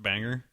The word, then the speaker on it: Bangor: And I believe it's pronounced Banger.